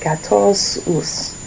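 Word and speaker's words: quatorze: I was trying to see if there was less on in there, but kosus.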